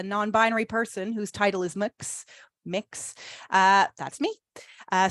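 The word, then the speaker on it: Mx: heard uh a non-binary person whose title is mix mix uh that's me uh so I'm a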